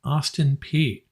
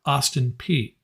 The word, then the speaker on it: Austin Peay: LSU was hosting University of Alabama, Birmingham, and Alabama was hosting Austin Peay. Yes, that is how you pronounce it. I had to look it up. Austin Peay.